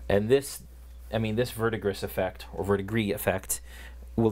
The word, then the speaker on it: verdigris: I didn't expect to put this much verdigris. I don't know what it. How do you pronounce it? How do you pronounce it, Joel? You're French. I say verdigris, but that's just me.